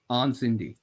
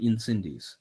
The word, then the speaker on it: Incendies: Incendy. Yeah, you don't say the S. I know. You look at it in English, you want to say Incendies, but it's yes, not exactly. That. It's Incendy.